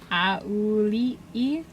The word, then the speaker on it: Auli'i: Is that the actual pronunciation? Yes. Okay. That's the way the trailer pronounced it. Ali, what? Auli'i.